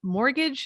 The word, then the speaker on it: mortgage: Mortgage has a silent T in it.